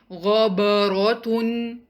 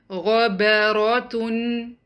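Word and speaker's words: غَبَرَةٌ: Make sure to keep letter ba light. Do not say ghabaratun. The correct pronunciation is ghabaratun.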